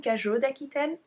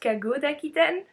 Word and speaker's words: cagots d'Aquitaine: And in that video, by the way, I kept saying cagots d'Aquitaine. It's pronounced cagots d'Aquitaine.